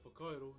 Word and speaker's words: Whakairo: Whakairo. You may see it in the stream title. So our WH is our F. So wha, kai, ro. So you roll your R a little bit, ro.